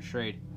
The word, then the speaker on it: Schrade: This is the Schrade, however you want to pronounce it, I pronounce it Schrade, Shasta McNasty.